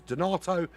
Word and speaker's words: Donato: across the line goes Donato which rhymes with tomato and potato for no other reason